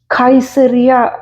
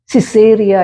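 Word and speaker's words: Caesarea: letter ആണ് അവിടെ ഉപയോഗിച്ചിരിക്കുന്നത് കൈസേറിയ എന്ന സ്ഥലത്തെക്കുറിച്ച് വായിക്കുന്നു സി എ ഇ എസ് എ ആർ എ സിസേറിയ എന്ന ഇംഗ്ലീഷിൽ നാം വായിക്കുന്നു കിലുക്കിയ എന്നുള്ള ഒരു സ്ഥലത്തെ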